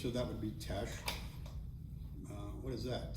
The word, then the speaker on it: Teche: in t in uh in French and Spanish I don't think you would pronounce the h so that would be Tesh uh what is that